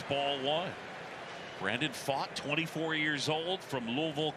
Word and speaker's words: Pfaadt: Talked with Pfaadt yesterday, and he joked his name is spelled P-F-A-A-D-T. And then he went to Bellarmine. He said a lot of times he was fat from Bellarmine. Right. It's almost like the vowels and the consonants are in the wrong order.